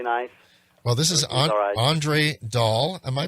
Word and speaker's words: Dal: great weather really nice well this is andre dahl am i pronouncing your name right andre yeah andre daw that's all right yeah and you have the